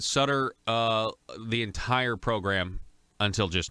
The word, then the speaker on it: Sutter: of a lot of people pronounce it stutter but I was pronouncing it Sutter the entire program until